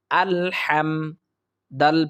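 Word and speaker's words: الحمد: আল হাম বলি অর্থাৎ হা হচ্ছে হলকের মধ্য থেকে উচ্চারিত হবে আমরা সেখান থেকে উচ্চারণ করার চেষ্টা করব হা মিম জবর হাম আল হাম দাল পেশ দু আলহামদু লাম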